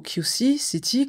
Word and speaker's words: Quezon City: Quezon City ou plutôt Ky City comme on le prononce en Philippin fait partie de la